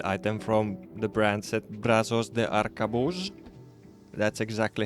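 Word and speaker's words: Brazos de Arcabuz: is a named item from the brand set Brazos de arcabus that's exactly how it's pronounced and the thing is that it has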